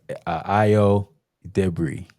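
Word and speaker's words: Ayo Edebiri: Well, and I um and let me get this this young actress's name IO debris. That's how you say her name.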